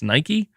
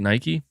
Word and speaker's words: Nike: plug themselves there it's it's Nike n it's Nike that's how you say it Nike that feels weird to